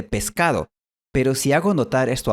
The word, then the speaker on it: pescado: Por ejemplo, en esta ciudad es común pronunciar Oscar en vez de Oscar y pescado en vez de pescado.